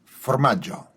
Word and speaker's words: formaggio: What we were asking very kindly to do is to pronounce for us in authentic sort of Genoese voice the Italian word for cheese. Formaggio.